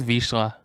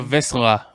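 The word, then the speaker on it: Vizsla: close to the name, it's a Visla, right? Visla. Yeah, I hear that a lot, Visla.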